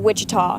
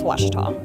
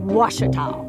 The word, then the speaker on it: Ouachita: Back in Texas, everybody pronounces it Wichita, but really, it's Washita. Washita.